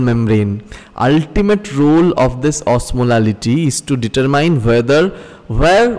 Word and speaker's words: osmolality: Remember, in any of this discussion, if I ever sound like pronouncing osmolarity, it's actually osmolality, right?